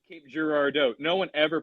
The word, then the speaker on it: Girardeau: You said Cape Girardeau. No one ever pronounces it Girardeau. How do you say it? Girardeau.